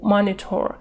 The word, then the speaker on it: monitor: Ударение на первую O, monitor.